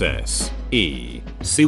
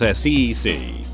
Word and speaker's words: SEC: I sent her an email from a Google link stating that An was correct since S E C was pronounced S E C. If it had been pronounced Sec, then A would have been correct.